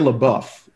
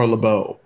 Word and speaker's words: LaBeouf: around the holiday that shia labeouf or or lebeau um depending on your pronunciation was fired from a